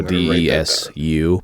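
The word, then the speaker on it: です: Yeah, and so DESU, but the U is silent. You know, you don't say the U in desu.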